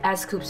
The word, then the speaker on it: S.Coups: S.coups how to pronounce it, like scoops, scoops, s.coups. Okay, let's go with s.coups because there's a dot over there, so let's say it as s.coups.